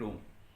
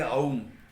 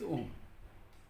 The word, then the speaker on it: Om: So please don't say aum for om, okay? It's om.